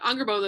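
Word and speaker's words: Angrboða: But Angerboda is the same way. Like, that D is actually a th.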